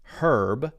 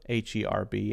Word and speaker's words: herb: it's both for example in British English it's herb h-e-r-b and in American English it's herb h-e-r-b same spelling different pronunciation